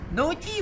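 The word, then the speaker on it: naughty: ساكت دونت بي نوتي نوتي مشاغب ما بنطق الجي اتش اللي وسط الكلمه طيب هنا بقى رد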